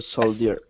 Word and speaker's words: soldier: Soldier or soldier? Okay, we say on this, we would say soldier. Soldier. Yeah, so it's the pronunciation is it's S-O, sol, d, j, er. So it's more like that, soldier.